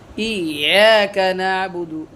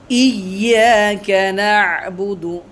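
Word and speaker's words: إِيَّاكَ نَعْبُدُ: ইয়াকা না'বুদু, এখানে অনেকেই আমরা ভুল করি, অনেকে বলে ইয়াকা না'বুদু, আবার অনেকে ইয়াকা না'বুদু পড়ে, ইয়াকা না'বুদু, এরকম উচ্চারণটা হবে ইয়াকা না'বুদু ওয়া ইয়াকা নাস্তাঈন, ইহদিনাস সিরাতাল মুস্তাকিম, ইহদিনাস সিরাতাল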